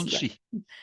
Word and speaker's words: Muncie: Is that how it's pronounced in Pennsylvania? Monkey, Yes, yeah. Muncie, Muncie.